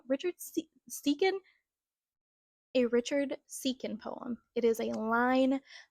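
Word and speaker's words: Siken: It is a line from a Richard Sicken. Is that how you say his name? Richard Sicken? A Richard Seekin poem.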